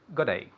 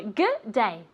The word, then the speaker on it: G'day: No, even even shorter. G'day. Good day. G'day. G'day. G'day. G'day. Yes, and with that attitude of yours. G'day. G'day. Very good. Yes. We're too We're too lazy to say good day. Okay. Yes, so we just say g'day.